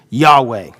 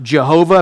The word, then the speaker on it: Yahweh: And we understand that to be pronounced probably like this, Yahweh. Okay? A mispronunciation of that would be like Jehovah.